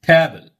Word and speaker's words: table: Simply we say table, table, table. That is not table. That is table.